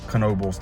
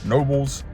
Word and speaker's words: Knoebels: It's Knoebels time. Apparently, I was saying it wrong incorrectly this entire time. I've been saying Knoebels, but it's apparently Knoebels.